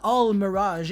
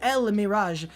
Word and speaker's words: El Mirage: By the way, the pronunciation of this card is not Al Mirage, it's El Mirage. I don't know why it's actually written with an A, it makes no sense. It should be pronounced the exact same way as the Shadal monsters, because it's actually an Arabic word, so I know that.